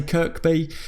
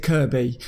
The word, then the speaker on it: Kirkby: always telling me that when I say Kirkby in Liverpool they pronounced it Kirby so as I say